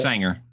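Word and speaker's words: Saenger: I saw Sager. Thought that was it. Sanger. And Sanger? Sanger, yeah. It is the Sanger Theater, yeah. Okay. I would have never pronounced it that way, but okay, cool.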